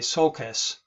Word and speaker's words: sulcus: of those one sokai is actually called a sulcus and that's spelled uh s-u-l-c-u-s okay so just be aware